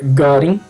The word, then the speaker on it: Göring: Em 1933, Hermann Göring, a pronúncia é alemã, chefe das SA, das seções de assalto, criou a Polícia Secreta de Estado, a Gestapo, que Hermann Göring.